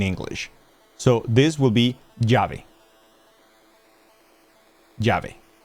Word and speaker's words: llave: Argentinians do not pronounce those consonant or that consonant, the semi-consonant, as the J. They pronounce it as sh. So they wouldn't say llave, they would say chave.